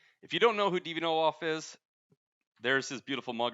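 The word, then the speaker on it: Deviant Ollam: Technically, it is Deviant Olaf, but I think he's given up on how people pronounce his name.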